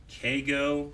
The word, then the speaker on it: Keigo: So I just mispronounced it, but I missed the I. Keigo.